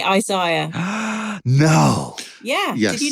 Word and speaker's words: Isaiah: right so we say Isaiah no yeah did you not know that that's terrible yeah we say Isaiah because one eye is higher than the other one I say it the